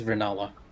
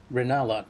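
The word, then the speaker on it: Rennala: Yeah, it is Ranala. Okay, so I was actually saying it correctly. Reinella, queen of the full moon.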